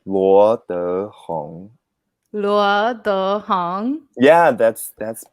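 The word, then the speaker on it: Luo Dehong: It's Luo De Hong. There go like the second, Yes, as we learned, so there are 4 tones, right? Yeah. So the second tone.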